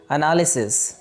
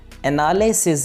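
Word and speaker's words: analysis: उस वर्ड है तपस्या पंजीयक इंग्लिश होती है अनालिसिस अनालिसिस एनालिसिस नहीं है यह लाइसेंस नहीं है यह भर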